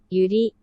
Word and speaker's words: Yuri: How do you pronounce it? Natsuki? Sayori? Teach me. Natsuki, Sayori, Monika, Yuri.